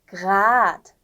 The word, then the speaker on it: grad: 일단은 grad, rot. 여기서는 그 공기가 목 쪽에서 나와야 되는 거예요.